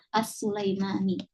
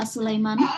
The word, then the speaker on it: As-Sulaimani: Jadi kira-kira yang pantas dibacanya apa? As-Sulaimani. Ya, As-Sulaimani. Ya, kalian baca As-Sulaimani boleh juga, ya, boleh juga, tidak masalah.